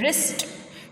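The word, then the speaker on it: wrist: है उसे कहते हैं रिस्ट। डब्ल्यू साइलेंट होता है, रिस्ट बोलेंगे इसे।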